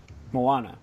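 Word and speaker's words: Moana: box office again let's go back number one Mona 56.7 million mawana sorry fantastic bc i was gonna say hi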